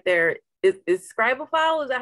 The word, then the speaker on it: Scribophile: so you just mentioned something right there is scribal file is that how you say it yes okay